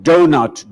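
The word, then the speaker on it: doughnut: We spell the word donut, D-O-U-G-H-N-U-T. Why? Only to not actually pronounce 3/8 of the letters.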